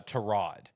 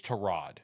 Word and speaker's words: Tyrod: It's uh Terrod. Uh that is Terrod is how you pronounce it.